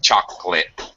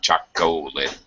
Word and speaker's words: chocolate: chocolate that's exactly right it's a dropped syllable we uh English speakers normally say chocolate not chocolate chocolate chocolate all right